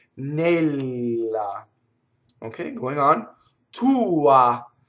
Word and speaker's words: tua: So this is technically a one syllable word, but the oo gets a lot. And it sounds like two syllables, right? Tua, right? So it's a definite oo and an ah. It's just the ah is a lot shorter.